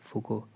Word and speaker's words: Foucault: तो पूरा नाम इनका है पॉल मिशेल फूको, इनका प्रोनाउंसिएशन ऐसा रहेगा फूको।